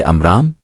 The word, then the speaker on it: عمران: کی اولاد میں سے امرام، قرآن اسی کا تلفظ عمران کرتا ہے کہ ہاں حضرت موسیٰ